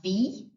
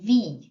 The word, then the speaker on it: wie: So W in German sounds like a V sound. The combination of letters I and E sound like an E sound. I always say a tip for remembering this is to pronounce the second letter of the combination. So if you see I-E, pronounce the E. So wie.